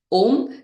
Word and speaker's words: Om: So you inhale and then you exhale, chanting Om, breaking it down into 3 syllables, A, O, M.